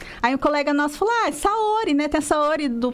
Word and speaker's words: Saori: Lembra Sayuri? Só que é Saori, né? E na minha cabeça, Saori é um nome fácil de pronunciar. Hoje eu sei que não é. As pessoas chamam a Saori de Sayuri, mas tudo bem.